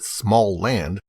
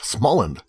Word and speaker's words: Smalland: Although it may be tempting to pronounce it Smalland, the title is only one word and has only two L's. Therefore, it should be pronounced Smalland, like Holland.